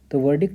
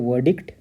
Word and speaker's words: verdict: तो अगर British English में कहेंगे तो वर्डिक्ट, और अगर अमेरिकन में जाएंगे तो व र डी क ट।